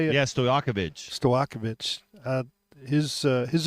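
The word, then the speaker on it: Stojaković: ability on offense is is high efficiency and Stoyanovich, is that how you say it? Yeah. Stoakovich.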